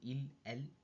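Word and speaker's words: ils: ill and L so as I said before the S is silent so ill uh it's third person plural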